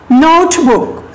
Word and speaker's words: notebook: These words have 2 stressed, but the note is first one. Note is first one. Okay. So how can you pronounce it? Notebook.